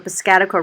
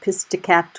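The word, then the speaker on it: Piscataqua: And as locals, we always had fun listening to how people that weren't from Maine would pronounce that bridge. It would usually be something like pisticapta or something like that.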